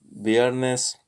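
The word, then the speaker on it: viernes: the beginning of sentences the letters b and v are both pronouns like an english b boletto biernes and as in bean beginning of sentence but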